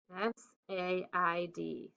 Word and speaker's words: said: the next open line said s-a-i-d said the ai is very tricky okay pause here until